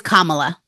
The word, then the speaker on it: Kamala: think it is no it is Kamala yeah comma like comma La um so what do